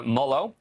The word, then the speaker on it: Molot: The article, written by journalist and recent Yale grad, Clara Mullow, I just asked her how to pronounce her name, too.